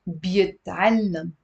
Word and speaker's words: بيتعلم: He learns is بيتعلم. بيتعلم. بيتعلم. بيتعلم. There is a shadda on the lam with a fatha.